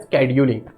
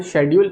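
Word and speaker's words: schedule: क्या है, ठीक है, प्रोनाउंसिएशन में शेड्यूल स्केड्यूल दोनों बोल सकते हो। हालांकि शेड्यूल जो बोलते हैं सी के थोड़े से हायर पिच के साथ, वो थोड़ा सही प्रोनाउंसिएशन है।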